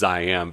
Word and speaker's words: Ziam: like, you know, I'm probably going to mispronounce, but it is Ziam because it's referring to the former name of Thailand, Siam, with a Z for zombie.